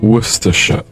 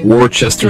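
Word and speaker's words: Worcester: can do it on wor sh wor sh wor sh wor sh yeah that's pretty good that's pretty good it's better better than Americans say it they say Worchester sh Bui so how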